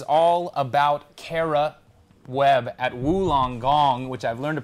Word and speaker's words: Wollongong: It was all about Kara Webb at Wollongong, which I've learned to pronounce correctly now.